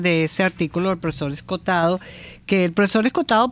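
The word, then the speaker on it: Escohotado: su apellido es se escribe es contado se pronuncia escotado bueno que es un extraordinario filósofo y jurista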